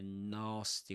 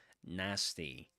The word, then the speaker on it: nasty: A nasty with a long ah sound, right? Just like in in chances or uh pass or car or even star. A nasty, but in American English, that's nasty. Nasty. Right, with an a sound. Nasty. Yeah, that's in American English. But in British English, nasty.